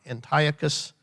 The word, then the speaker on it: Antiochus: spell that for you a-n-t-i-o-c-h-u-s like antioch antiochus epiphanes e-p-i-p-h-a-n-e-s antiochus epiphanes